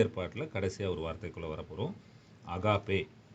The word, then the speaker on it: agape: அகாப்பே. இந்த AGAPE அந்த வார்த்தை என்னன்னு சொல்லி பார்த்தீங்கன்னா அகாப்பே.